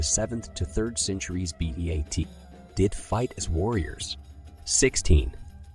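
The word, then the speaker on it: ит: the Kazakh word for dog is pronounced eat 21 Kazakhstan was one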